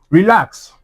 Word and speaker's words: relax: So, now, relax. Re lax. The stress is what? On the second syllable. So, it will now be what? It will now be re lax.